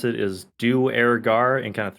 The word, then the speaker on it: Duergar: The way I usually pronounce it is Duergar in kind of 3 parts. They match it together as Duergar, except Duergar. they have English accents, so they're leaving off the R, so it becomes Dwager.